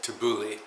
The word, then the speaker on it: tabbouleh: is a cold refreshing salad called tabouleh where some people pronounce it tabouli anyway tabouleh tabouli is